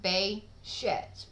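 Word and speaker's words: Behçet's: is pronounced exactly the way I'm saying it Bay sheds with distress on the second syllable um but it's also worth noting that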